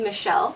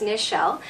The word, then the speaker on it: Nichelle: A lot of people always call me Michelle, but it's Nichelle.